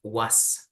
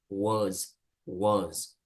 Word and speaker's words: was: So you don't pronounce really like was, no? En realidad es más como una Z al terminar. So you say was, okay?